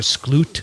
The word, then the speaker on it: Sklut: berkeley her name is deborah skloot except it's spelled s-k-l-u-t i asked her if